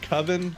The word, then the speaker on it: Coven: called he it's it's it's called coven but he calls it koven because he doesn't know how to pronounce it so the whole